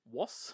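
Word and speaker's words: Ross: Weird Al Yankovic, Flea, Jason Schwartzman, even Jonathan Woss. I've got to pronounce his name with the W.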